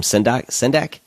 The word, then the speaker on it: Sendak: I can't pronounce his last name. Sendak.